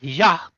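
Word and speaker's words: Hadjar: Isak Ya, which is the correct pronunciation, eight points.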